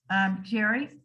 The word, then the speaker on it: Gerry: And the term came from a guy named Albright Gerry. And even though it's spelled Gary, it's got that hard H.